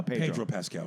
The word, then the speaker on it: Pedro Pascal: Yeah, Pedro Pascal.